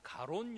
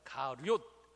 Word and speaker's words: 가룟: 가로가 유다는 발음을 잘 해야 되는데요. 많은 분들이 가론 유다라고 하는데 가롯 유다라고 한글 성경에는 그렇게 되어 있습니다.